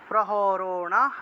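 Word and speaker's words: প্রহরণাঃ: জীবিতাহা নানা শস্ত্র প্রহরণা প্রহরণাহ এখানে বিসর্গ থাকায় হ উচ্চারণ করবেন আপনারা প্রহরণাহ সার্ভে সার্ভে যুদ্ধ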